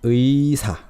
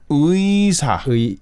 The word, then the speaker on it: 의사: It's 의사. 의사. So basically say 의. fast. Yeah. 의. 의사. 의사.